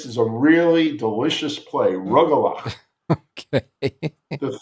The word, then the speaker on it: Rugelach: Rugelach. Okay. The 3 horse in the 11th. We're going to go home with a good taste on our mouths. All right. That's the correct pronunciation. Rugelach.